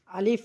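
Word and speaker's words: ا: আলিফ, আলিফ হরফটি আমরা হালকা করে উচ্চারণ করব।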